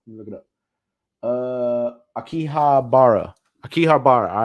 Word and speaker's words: Akihabara: So they went to like a fucking city, the Yoki Kahibra, whatever the fuck. How you say it? Hold on, let me look it up. Akihabara.